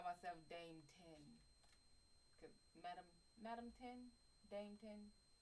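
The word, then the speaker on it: тень: We say 10 with the soft N at the end. 10 like the number 10? Yo, that would be badass. It's like I'm gonna call myself Dame 10.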